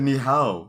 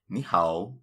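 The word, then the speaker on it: 你好: You said ni hao. It's ni hao.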